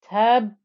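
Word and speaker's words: تَبَّتْ: press the lips together gives me the time for the first ba inside this ba with shadda. That's why you have tabbat. Only when I then pronounce the ba with the fatha inside that shadda do you get to hear the ba.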